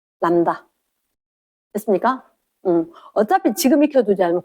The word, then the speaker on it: 람다: 그거 반대로 왼쪽에 짧고 오른쪽에 길게 이렇게 쓰기를 이렇게 써놓고 발음은 어떻게 하냐? 람다 이렇게 이야기할 거다. 람다.